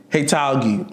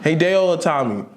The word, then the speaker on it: Hideo Itami: Heitalgi. I forgot this nigga's name. What? How you say his name? Hideo Itami.